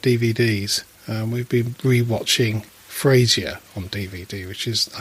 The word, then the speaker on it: Frasier: We've been rewatching Frasier on DVD, which is, I think, possibly one of the funniest series. You also say his name made. very strange. Well, say it again. Frasier. It's Fraser.